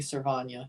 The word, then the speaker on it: Servania: St Louis he does not you told me servania yes thank you if I'm mispronouncing something even if it's Sly I want